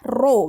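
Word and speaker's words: ρ: massa jenis yang dilambangkan seperti huruf P tapi bukan huruf P itu adalah roh bacanya roll = MPV besar terus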